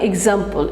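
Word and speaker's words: e.g.: এক্সাম্পল, easy, easy মানে এক্সাম্পল, এইটা একটু সবসময় খেয়াল রাখবে। এই যে দেখো তোমাদের বইতে লেখা আছে একটা ডট, তারপরে জি, এইটার উচ্চারণটা হচ্ছে এক্সাম্পল।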